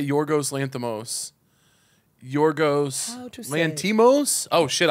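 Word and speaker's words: Lanthimos: Can you Google Yorgo pronounce S? Yeah. How do you say Yorgos lanthamos? Yorgos lantimos.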